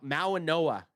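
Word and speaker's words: Mauigoa: Oh, Mau Ma Noah G is silent Noah.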